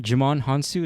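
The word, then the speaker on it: Djimon Hounsou: Jimon Hansu?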